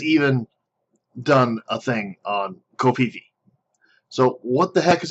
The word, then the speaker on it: Covfefe: Okay, now I called it Covfefe. The internet has decided it is Covfefe. So from here on out, we will pronounce it Covfefe.